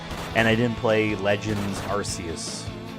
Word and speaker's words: Arceus: And I didn't play Legends Arceus. I'm not pronouncing it Arceus. I don't care if the British would find it funny to pronounce it how it's spelled, Arceus. Put a K if you want Arceus.